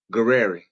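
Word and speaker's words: Gurira: I Dana, how you pronounce her last name? Guerreri.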